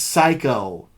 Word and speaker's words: Psycho: the video store oh it's psycho the P is silent dummy and it's actually